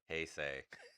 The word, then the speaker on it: Heisei: Heisei.